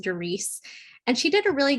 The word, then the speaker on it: Doris: It's spelled like Doris, but it's pronounced Doris.